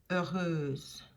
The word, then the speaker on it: heureuse: Heureux, heureuse. Heureux, heureuse. So that H is not pronounced at all.